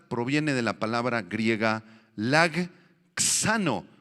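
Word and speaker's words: λαγχάνω: Esta palabra alcanzar proviene de la palabra griega lagxano. Lag, y luego viene una X y acento en la A.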